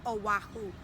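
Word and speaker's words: Oʻahu: sister P fled to aahu the word is aahu read it it says aahu beautiful the next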